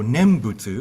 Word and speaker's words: nembutsu: awareness of Buddha because the nen is awareness and then busu is just the CH Japanese pronunciation of the Chinese character for Buddha so nembutsu if you hear that